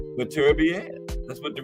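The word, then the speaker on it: Beterbiev: The ring announcer said Better Be Air, right?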